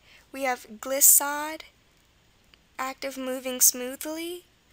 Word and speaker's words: glissade: We have glissade, act of moving smoothly, glissade, and levade.